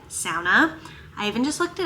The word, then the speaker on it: sauna: But fun fact, the proper pronunciation is sauna. It is a Finnish word and it is supposed to be said sauna.